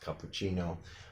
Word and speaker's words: cappuccino: Coffee is very, very popular these days, so most people already know that is pronounced cappuccino.